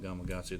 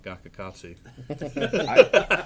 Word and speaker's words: Gamakatsu: in the deep south they don't call it gamakatsu they call it gakukatsu i promise you over my years i've you've